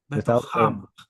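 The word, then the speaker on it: בְּתוֹכָם: Betocham. Without the weak dagesh. So it has that gravelly sound.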